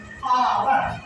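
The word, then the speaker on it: hour: देखिए प्रशन के बाद इसका जो उच्चारण हो रहा है आवर आ आवर सम अब संक्षिप्त एशन एशन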